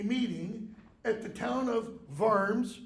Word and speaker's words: Worms: a convocation a meeting at the town of vers it's how it's pronounced Germany it is called it was called